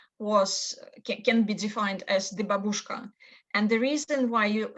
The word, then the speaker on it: babushka: And why babushka or babushka, as it's pronounced here.